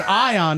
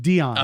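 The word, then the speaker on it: Dione: No, he said Ion, not Dion.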